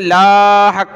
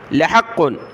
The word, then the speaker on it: لحق: مثل ما أنكم تنطقون، یا لام کو کھینچنا نہیں ہے، لا حق نہیں پڑھنا، لحق، لحق، اور یہاں تا باریک